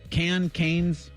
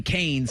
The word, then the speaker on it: Cannes: Cannes. You pronounce everything right. You're right. Always. It wouldn't be Canes because that's chicken fingers.